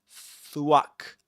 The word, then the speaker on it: thwack: You've got to stick your tongue in between your teeth. Between your teeth, you know, like this. Thwack. Thwack. Then you pronounce the what the what sound. You say swack. Swack. And it kinds of it kind of rhymes with pack.